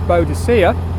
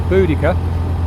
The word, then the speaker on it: Boudica: now known as boudica older people there is bodacia but they've sort of decided the pronunciation was wrong it's Boudicca whichever you're happy with and in around ad60